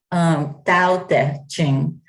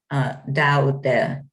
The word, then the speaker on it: Tao Te Ching: So the name of the book is The Divine Feminine Tao Te Ching. And I say Tao Te Ching. The D and the T in Chinese are between our D and T in most Western languages.